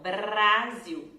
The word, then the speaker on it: Brasil: Nessas situações que a gente tem a letra R depois de uma outra consoante, a gente vai fazer esse som de R, que a letra R vibra atrás dos dentes, né? Rrr. Estão vendo a minha língua? Rrr. Então, Brasil, Brasil, ok? Então, lembrando, letra R depois de outra consoante vai fazer esse R que vibra aqui.